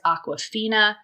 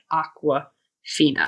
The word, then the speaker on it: Awkwafina: It's like awkward, but Awkwafina. Fina, yeah.